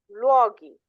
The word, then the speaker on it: luoghi: So if they end in CO or GO, your K sound has to get an H in the plural in order to maintain that pronunciation.